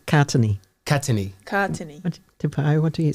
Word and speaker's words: Katene: Well, I say Katene. Katene. What do you say? Katene. Yeah, Katene.